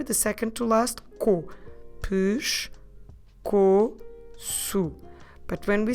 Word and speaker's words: pescoço: Okay, I know this one it's a bit hard because we drop the letter E on the first syllable when we're pronouncing it.